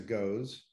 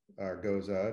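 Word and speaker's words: Gose: But, you know, it is very, you know, it's a goes. Goza, depending on how we need to pronounce it, and the jury's still out for me. But ideally, it's a goes.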